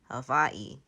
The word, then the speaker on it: Hawaii: I think the native Hawaiians pronounced it with a V, Hawaii, but non-native Hawaiians just say Hawaii, Hawaii.